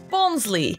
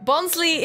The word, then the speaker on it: Bonsly: episode is number 438 bonsly I think I'll never be confused by this name when I was doing my research on it because its name apparently comes from bonsai and fly so shouldn't it be